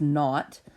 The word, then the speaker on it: naught: hypothesis is always denoted h naught right so h subscript zero um that subscript zero is generally pronounced not um this is always